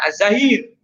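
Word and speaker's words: الظاهر: Dibilangnya engkau adalah az-zahir, tidak ada sesuatu pun di atasmu. Engkau adalah al-batin, tidak ada sesuatu pun yang berada di balikmu. Makanya saya katakan ini yang benar az-zahir.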